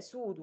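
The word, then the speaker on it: pseudo: كلمه كاذب في الطب اسمها سودو، البي دي ما بتتنطقش، يبقى سودو.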